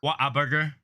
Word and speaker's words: Whataburger: especially when you're hungry you got to say it right though tony shut up what a burger exactly whataburger no there's no there's not water whataburger what up burger